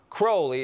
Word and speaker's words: Crowley: Crowley in his own writings he said it's pronounce crowly it runs with Holy One Day in Cairo